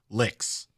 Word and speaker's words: LIX: Roman numerals 59 and if you pronounce it together it pronounces licks so I just why